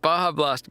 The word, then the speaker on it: Baja Blast: Oh, it's pronounced Baja Blast.